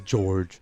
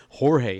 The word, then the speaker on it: Jorge: It's George. It even rhymes with boring. Boring George. Or Jorge in Spanish. Jorge.